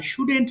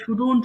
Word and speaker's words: shouldn't: এবার নেগেটিভ পড়বো, খেয়াল করো, আই শুডেন্ট রাইট। সব উচ্চারণ করবো কি স্টুডেন্ট, এটা অনেকে ভুল করে শুডন্ট বলে ফেলে, শুডন্ট হবে না, remember it just simply শুডেন্ট।